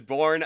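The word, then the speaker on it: Börje: borgie I never knew I never knew how to say his first name barji salming just born okay born salming never got to see him play well there you go that is born salming Toronto Maple Leafs great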